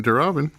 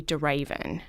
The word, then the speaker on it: de Ravin: I don't know where even a lot of Americans say de Ravin I would have liked davon revin so it's not Robin either me neither all right cuz neither you